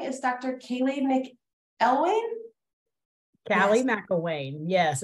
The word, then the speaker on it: Callee McElwain: guest this morning is Dr Kaylee MC elwayne Callie McElwain yes it's difficult to pronounce oh I didn't say it correctly say it again Cali McElwain McElwain okay um and she is from icev